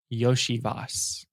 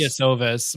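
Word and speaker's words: Iosivas: Andre Yoshivas. I used to still say can't pronounce Yasovas, but it's Yoshivas.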